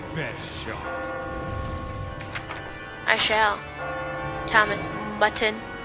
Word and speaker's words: Mutton: I shall, Thomas Mutton. Your name rhymes with button.